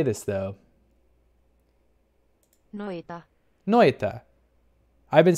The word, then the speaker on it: Noita: Noita. Noita. I've been saying it wrong. It's Noita.